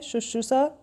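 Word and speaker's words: शुश्रूषा: उच्चारण किया जाता है वह बताना है सुश्रुषा होता है या सुश्रुषा होता है सुश्रुषा याद रखिए इसका सही होगा उच्चारण और लिखा कैसे जाएगा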